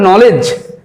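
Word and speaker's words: knowledge: যেমন ধরো নলেজ কে এন ডব্লিউ এল ই ডিজিই দেখো লেজ এল ই জিই লেজ এক্ষেত্রে কি দেখো ডি এর উচ্চারণ কিন্তু আসছে না নলেজ এলিজি লেজ অর্থাৎ নলেজ এখানে কিন্তু ডি এর উচ্চারণ আসছে না।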